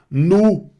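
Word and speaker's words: nous: Não pronuncia esse s, hein? Vu. Vocês ou senhor, a senhora no formal? Nu.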